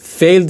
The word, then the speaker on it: failed: یه نکته تلفظی هم اینجا بهتون بگم بچه، این failed نیست. باید این صدا چی بشه؟ یه ذره کشیده میشه و به خاطر اون شوایی هستش که قبل از صدای ل، این توی انگلیسی صدای L